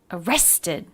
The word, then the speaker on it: arrested: or arrested arrested arrested stress on the middle syllable uh rest did the ed ending of this word how is it pronounced it is an extra syllable that means it's a vowel and a consonant the e vowel and the d sound that's because the sound before was a t arrested arrested oh wrestling